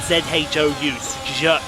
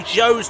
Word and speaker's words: Zhou: I'll call him Zhou anyway. And that's spelled Z-H-O-U, Zhou.